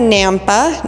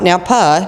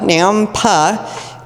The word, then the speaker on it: Nampa: Then we had Nampa, not Napa, Nampa. That's in Canyon County, and so is Middleton. We happen to be in Ada County. So Nampa is 700,000 even at